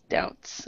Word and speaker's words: doubts: might e that d doubts yeah doubts very good and knowing that be is silent okay are there any